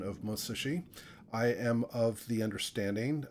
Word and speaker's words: Musashi: tend to say Musashi the pronunciation I understand is probably closer to Musashi where basically there's no stress on any syllable I did get chastised